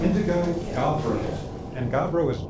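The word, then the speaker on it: gabbro: Again, it's called indigo gabro and gabro is G A B R O.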